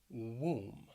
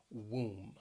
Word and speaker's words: womb: finally the word womb womb keep in mind that that o it really has that ooh sound womb we're going to talk